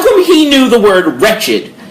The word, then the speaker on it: Wretched: Besides pronouncing our name wrong. Wretched, guys.